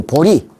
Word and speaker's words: 보리: 이걸 보리 이렇게 읽습니다. 보제가 아니고 보리.